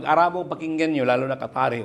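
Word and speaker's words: قطر: Then sa word na qatar qatar.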